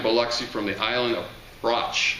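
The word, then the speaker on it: Brač: scrametta arrived in biloxi from the island of broch it's pronounced blotch like brac which is located near the city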